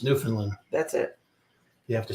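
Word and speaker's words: Newfoundland: Finland and labador it's New Finland that's it you have to say it right it's New Finland it's kind of like saying Louisville it's Louis you know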